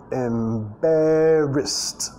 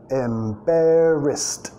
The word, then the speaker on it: embarrassed: Seems embarrassed. Embarrassed. Y nota acá, la ED en este caso termina con sonido T.